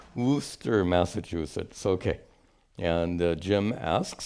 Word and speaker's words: Worcester: How would they pronounce it? Worcester. Worcester, Massachusetts.